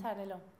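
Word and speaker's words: Xarel·lo: Xarel.Lo.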